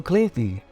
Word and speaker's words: Clinton: example Steve Martin Steve Martin bill clayti Bill Clinton and Tim Burton Tim Burton here's a fun